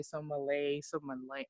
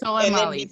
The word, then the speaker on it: Soleimani: went and bombed Iran and their general, I can't say his name correctly, Somalay, I don't know. Can any of y'all say it correctly? I'm not going to pronounce it. Soleimani, thank you.